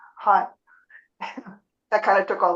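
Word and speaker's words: haigh: know you can say hi in Irish only it's spelled h a i g hi that kind of took all the pressure off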